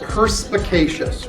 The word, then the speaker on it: perspicacious: A 4-syllable word with wonderful sibilants. Perspicacious. We got the S sound in pers, another S sound in us, and a sh sound in shus.